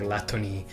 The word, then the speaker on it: Lathna: Lathna, the Japanese, they pronounce it like Latoni, so I don't know how to properly pronounce it. Is it Lathna?